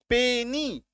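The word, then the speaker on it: penny: पेनी, है ना, पेनी मतलब पैसे होता है, पेनी, पेनी, दो सिलेबल, लास्ट में वाई, उच्चारण ई के जैसा, है ना, ई का साउंड।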